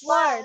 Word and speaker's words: worth: ওকে, থয়ের উচ্চারণ হবে লাস্টে। ওয়ার্থ। Yes.